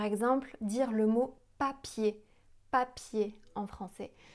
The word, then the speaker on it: papier: Si on met la main devant la bouche, papier, on sent pas d'air. Alors qu'en anglais, si on dit paper, on sent l'air qui arrive sur la main.